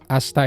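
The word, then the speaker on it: 明日: Asta itu termasuk cara baca khusus karena kaji yang sebelah kiri itu harusnya dibaca akarui atau mei. Tapi di sini jadi asta.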